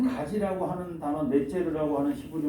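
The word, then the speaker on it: נֵצֶר: 이 말씀은 그 이사야 11장 1절 가운데 한 가지가 나서, 한 가지라고 하는 단어가, 한 가지라는 단어가 히브리 말로 넷제르라고 하는 발음이 나오는데요. 넷제르.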